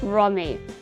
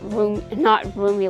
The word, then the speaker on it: Rummy: It says it's pronounced rummy. So it's Rummy Labyrinth, not Roomy Labyrinth. Yeah, it's rummy. Like rum. Like rum.